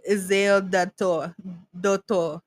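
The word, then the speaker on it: Erzulie Dantor: Okay, so this is a Santeria tattoo of Ezel Dator. That's how they say it.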